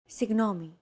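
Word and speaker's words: συγγνώμη: romanized like this signomi this character isn't pronounced using an English G sound at all who it's like a very soft continuous and loosely held G almost as if you're gargling but don't make it sound too throaty who there's no such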